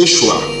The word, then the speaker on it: Yeshua: an individual for instance Jesus pronounced in Ari me is's pronouncing Yeshua just like Joshua it means savior so